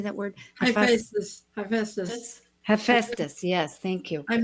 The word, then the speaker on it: Hephaestus: Hephaestus.